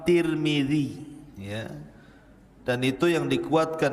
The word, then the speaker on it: Tirmidzi: Dan ada yang kemudian membacanya tarmiz. Ada turmud, ada Tirmid. Jadi ada sebagian ulama mengatakan Imam Tarmadzi, ada yang mengatakan Imam Turmudzi, ada yang mengatakan Imam Tirmidzi. Walaupun yang masyhur adalah Imam Tirmidzi ya.